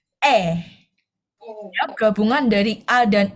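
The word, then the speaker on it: 애: Nah, jadi huruf ini atau Hangul ini, huruf vokal ini, itu bacanya E.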